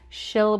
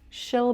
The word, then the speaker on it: she'll: really far back, but keep it nice and forward and light. Shill. Shill. And I can definitely understand what you're saying. She'll bring snacks. She'll bring snacks.